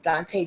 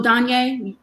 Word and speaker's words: Danye: Dante Jones. Mm-hmm. Remember him? The one that he was hung on the tree in his mother's backyard? Oh, Danye. Danye. Okay, my guy is Dante. Your guy is Danye.